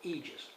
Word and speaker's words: Aegis: and it's with two e's and GIS they pronounce it Aegis and the model number on this is ae01